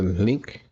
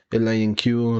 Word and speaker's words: LINQ: link you some some sometimes called a link directly or some something called a line q like you have different pronunciations but and you can actually see it right here so i call it link you is a language